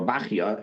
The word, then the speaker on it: Bechaya: And he's giving us another reference to look up in the commentary of Rabbeinu Bechaya, or Bachya, as some pronounce it, and the Chumash, at the end of Parshas Noach.